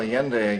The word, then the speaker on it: Allende: So let's move on to Allende, is that the pronunciation? Mm-hmm. Yeah. Well, Allende again, president of Chile, and Allende went up against a very powerful U.S.